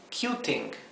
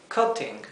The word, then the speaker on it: cutting: y no queremos eso queremos que se pronuncia cutting verdad si el infinitivo es Cut nosotros queremos que al agregar la terminación quede cutting verdad no queremos que cambie y quede cuting esto Esto se pronunciaría cuting